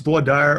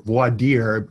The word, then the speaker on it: voir dire: every time what Dyer I think it's pronounced voir dire or voir dear either way is correct and I do think